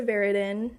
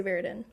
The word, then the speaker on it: Veridin: Veridin is how I pronounce my last name. Nobody really knows how to pronounce my last name, so I I answer to anything really, but I say Veridin.